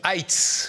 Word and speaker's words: Heights: Emmanuel Vincent, donc cofondateur, président du groupe Heights. Je prononce bien Heights.